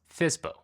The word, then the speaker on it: FSBO: FSBO, pronounced FSBO.